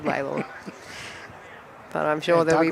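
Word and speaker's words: Lalor: Tom tells us it's pronounced Laylaw. But then... That's what I said, wasn't it? Mitch says Lawler. Yes, well. Oh, but the suburb is known as Laylaw.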